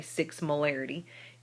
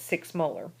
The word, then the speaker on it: molar: hydroxide and again 6.0m what we we say is six molar you don't say six marity we we would pronounce that six molar uh what that means